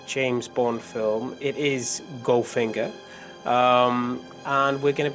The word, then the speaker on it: Goldfinger: um but the the the easiest way to pronounce ginger in the style of Shan conry is if you drop the L and the D so it's just Ginger okay that's good stop